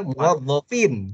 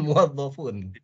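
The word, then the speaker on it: مُوَظَّفِين: Kalau objek itu harusnya bacanya muwazzafin, bukan muwazzafun. Dia bilang ra'ait.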